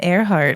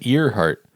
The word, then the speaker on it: Earhart: just just building about Amelia aart OH is it aart I thought it was ear heart no way I'm pretty sure it's ear heart it's spelled ear heart no way you say